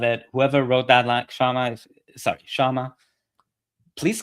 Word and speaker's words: Kshama: Whoever wrote that line, Kshama, please correct me in the chat if I mispronounce Shama's name and I overpronounce the K.